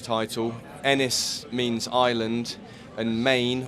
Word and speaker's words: Men: Enys means island, and Main, although it's spelled M-E-N, is pronounced Maine, as in M-A-N-E, means stone.